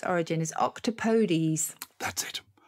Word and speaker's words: octopodes: want to stick etymologically to its origin is octopodes that's it octopodes the podiums i'm warming have i got time